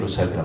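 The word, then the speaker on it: Rothschild: 영국도 보내고, 근데 그게 영국식 발음이에요. 로차일드란 말은.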